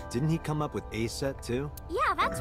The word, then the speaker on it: Aset: Horus's mom is named Isis, but in ancient Egyptian, it's pronounced closer to Iset, or Aset.